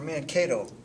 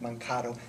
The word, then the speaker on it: Mankato: of looks like this and this is where man k told is that net mankato never heard it butchered that way but the first time this